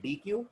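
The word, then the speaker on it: deque: Right, priority क्यू, right, और कुछ लोग बुलाते हैं डी क्यू, कुछ लोग बुलाते हैं डेक. आप इसे कैसे भी प्रोनाउंस कर सकते हैं. Some people call it deck, some people call it डी क्यू.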